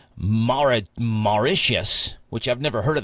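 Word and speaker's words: Mauritius: Maicius.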